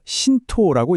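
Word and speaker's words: 神道: 지금 화면에 보이는이 두 글자 바로 신토라고 읽습니다.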